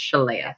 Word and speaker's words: Shalea: One, I'm gonna tell you my name is pronounced Shalea. So think of Princess Leia with a sh.